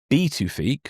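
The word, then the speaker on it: Pituffik: The US already maintains a crucial radar base at B2ique. Apparently that's how you pronounce it. I double checked earlier. Um uh yeah, apparently the B uh the P is pronounced as a B.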